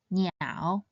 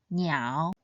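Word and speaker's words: 鸟: It should be read in the third tone, niao, niao.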